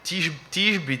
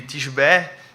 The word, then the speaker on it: Tisbe: E a Bíblia diz que Elias era de Tisbe, Tisbé, existem duas formas de pronunciar, e estava querendo dizer